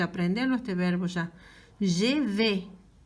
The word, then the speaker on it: vais: Je vais. Se escribe vais, ¿verdad? Pronuncio V. Je vais.